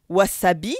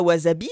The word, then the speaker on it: wasabi: film d'ailleurs dans lequel il prononce wasabi et non pas au wasabi donc c'est bien il